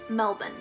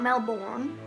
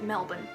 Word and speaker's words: Melbourne: going to it's pronounced Melbourne like there's no vowels in the end it's not Melbourne it's not Mel Ben it's just Melbourne I would know because